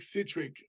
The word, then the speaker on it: CiTRic: Basically, just all my social media is CiTRic, you know, and so it's BigCatric. Like I always tell people, if you can't pronounce it, it's like citric acid, you know, because people are, what the hell's a citric?